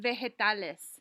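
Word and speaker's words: vegetales: vegetables so everybody repeat vitales veal and if you remember the G followed by the E gives you the soft G sound vitales please repeat leges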